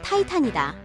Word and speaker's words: 티탄: 티탄? 어디서 많이 들어본 소리인데? 이렇게 고개를 갸우뚱하는 분들이 있으리라. 맞다. 티탄의 영어식 발음은 타이탄이다.